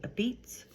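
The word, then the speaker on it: apizza: a lot of people will not call it Pizza they will call it a Beatz which is spelled a p i z zaa who knew not me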